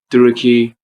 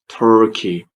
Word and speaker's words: Turkey: Because some people, when they want to talk about this country, they say Turkey or Turkey. That's wrong. Please say Turkey. Putting a lot of pressure on Turkey in particular.